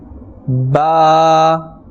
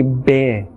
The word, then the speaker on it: ب: Ba. Ba. Ba. Do you remember we gave this example in the beginning that do not say bear?